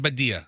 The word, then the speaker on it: Badia: but you know yeah is it body or badia I always pronounce it badia because and you know